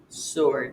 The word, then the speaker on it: sword: ring wreck right and SW words where you only hear the S sound answer sword take a look at these words in practice 76.